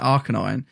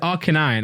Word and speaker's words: Arcanine: That's how they say it in anime, but it's literally Canine, isn't it? Yeah. Canine and then Arcane. So it's like Arcanine.